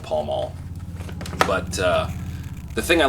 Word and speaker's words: Pall Mall: a butler they also as they pronounce them in the UK pell-mell just here in the US are called Pall Mall but the thing I